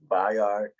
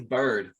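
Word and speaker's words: Byard: first name is kevin bye yard k by k i don't even know if i'm saying that right i think it's bird i think he's pronounced bird yeah bruh you got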